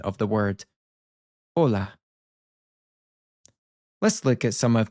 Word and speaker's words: hola: point out is that the h is silent in Spanish. You can see this happen with hola. We're basically skipping over the h in our pronunciation of the word hola.